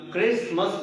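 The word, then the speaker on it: Christmas: Okay, जब हम क्राइस्ट को मास के साथ जोड़ देते हैं तो टी जो है वो साइलेंट हो जाता है, इसलिए हम क्रिसमस बोलते हैं।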